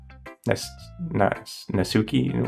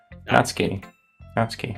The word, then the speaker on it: Natsuki: I'm a little disappointed we didn't get to Nasuke. Nasuki. What? How do you say it? Natsuki.